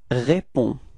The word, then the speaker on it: réponds: get the form je réponds. Repeat. Je réponds. All right, so the funny thing is that you've got to write this DS, but of course, as usual in French, you don't pronounce it, okay?